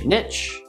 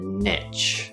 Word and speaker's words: niche: two options are either niche niche so we have an n sound followed by the long e in words like p